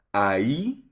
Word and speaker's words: ahí: Ayun so pero i-pronounce natin siya academic Spanish 'yung standard aki. Aka. Ayi ayi silent H.